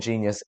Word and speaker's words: GXNXVS: I had to ask them how to pronounce their fucking name because I looked at the letters and it looked like some Matrix business. Listen, I can't lie, didn't know how to say it, but now I do know.